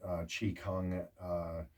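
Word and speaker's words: qigong: is another great thing learn chi kung which is spelled q-i g-o-n-g i believe so said chi kung tai chi's another one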